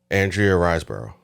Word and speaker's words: Andrea Riseborough: before that but I learned how to correctly pronounce it on Saturday what's her name again Andrea riseborough okay never heard for uh to Leslie uh